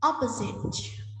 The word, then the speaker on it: opposite: Opposite, opposite, trọng âm số 1, đối lập.